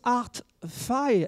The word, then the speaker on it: ART Fi: Donc, on prononce ArtFi. ArtFi, oui.